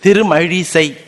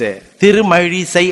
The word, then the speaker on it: Tirumazhisai: Tirumazhisai. Now you ask any child to pronounce this. Tirumazhisai Alvar. Tamil child will tell. Tirumazhisai Alvar. Rakara will not come.